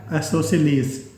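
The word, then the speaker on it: isosceles: आइसोसेलेस। आइसोसेलेस, आइसोसेलेस, आइसोसेलेस। इसको pronounce करना है आपने आइसोसेलेस, आइसोसेलेस, आइसोसेलेस ट्राइंगल।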